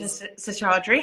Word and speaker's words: Seshadri: there we are hello good evening welcome Dr sadre how are you I'm fine thank you thank you very much Elouise you've pronounced my surname perfectly thank you lots of